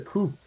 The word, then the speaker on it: coup: yeah you say exactly you don't pronounce the p because french people when they created language